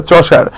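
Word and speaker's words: Chaucer: দন্তেস আকারে আ চন্স আকারে আর চসার অনেকে কসার কসার বলে হ্যাঁ এটা কসার না ভাই হ্যাঁ এটা চশার প্রোনাউন্সিয়েশনটা হচ্ছে চশার হ্যাঁ এজ অফ চসার হচ্ছে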